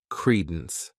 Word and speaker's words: credence: This word has two syllables and the stress is on that first syllable. Credence.